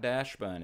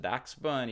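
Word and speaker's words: Dachsbun: also up to 2769 a doc spun not Dash bun it's pronounced Dax bun exir from Stellar Crown is moving sideways two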